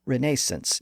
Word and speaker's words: Renaissance: It was the movement that we know today as the Renaissance, or Renaissance if you prefer the British pronunciation.